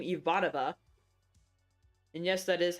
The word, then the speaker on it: Ivanova: You don't have to be a Babylon 5 fan to know the name Ivanova. And yes, that is how you pronounce it.